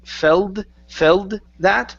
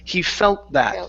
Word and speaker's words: felt that: uh okay so here you switch that t to a d saying Fel Fel that okay combine the T and the th so he felt that so the t is actually just going to disappear he felt that he